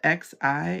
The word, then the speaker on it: Xi: Cantonese or Mandarin, the Xi is a shh sound.